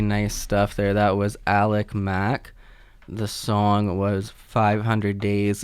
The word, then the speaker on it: Alickmac: That was Alick Mac.